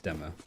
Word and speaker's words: Dima: So it's not Dima, it's Dema.